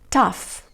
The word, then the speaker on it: tough: Tough, rough, cuff, luff, enough. Good job. Estas palabras lo que tienen en común es que la combinación GH se pronuncia como F, ¿ok?